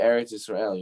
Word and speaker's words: Eretz Yisrael: He says, what does it mean, Eretz Yisrael? That's how you say it in Hebrew, right? The land of Israel. Eretz Yisrael. He says, Eretz is from the root word that shares the same root word as Ratzon.